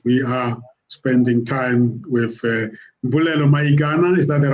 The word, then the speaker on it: Mbulelo Mayikana: as well as we are spending time with Mbulelo Mayikana. Is that the right way of pronouncing it?